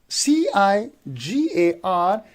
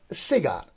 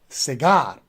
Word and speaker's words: cigar: we pronounce it as cigar so you see that the stress goes on the second syllable so we say cigar